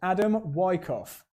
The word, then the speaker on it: Adam Wyckoff: I'm glad I checked the pronunciation of this driver's name. It's Adam Wyckoff.